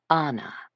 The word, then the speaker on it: Anna: She pronounced it with a long first syllable. Anna.